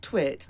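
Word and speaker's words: Twat: It's like Twit, the word, but it rhymes with fat.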